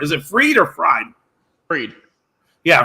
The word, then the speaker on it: Fried: Fried. Yeah, Fried.